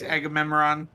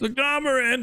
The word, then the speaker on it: Agamarin: Thanks, Agamemnon. Hey, I pronounced it right. It's Agamarin, but whatever.